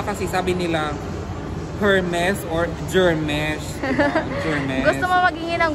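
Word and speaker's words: Hermès: So sorry naman kasi nga, hindi kasi ako rich kid, so hindi ko alam na Hermes pala siya. Silent H pala siya. Pero yung iba kasi sabi nila Hermes or Germesh.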